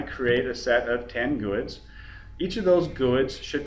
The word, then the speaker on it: GUID: At least when I've heard it, it's been pronounced out as a GUID, not G-U-I-D.